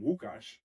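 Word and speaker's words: Łukasz: You know, like my whole name is and people know me as, but for example, in Poland the L is pronounced with a W, so I'm Wukauash, you know.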